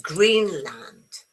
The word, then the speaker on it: Greenland: Remember the stress is on green. Okay, Greenland. It's not Greenland. It's Greenland.